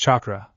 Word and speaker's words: chakra: very excited if this Catra thing could help him find his family he would learn all about in no time he liked to learn anyway I guess not she chuckled it's pronounced chakra everybody that is alive